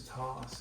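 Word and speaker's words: Thos: come across the good the fifth is toss like and I'll have to explain it like you know that's freaking my real name that's what my parents named me I like it but it's spelled t-h-o-s or short for Thomas yeah I got screwed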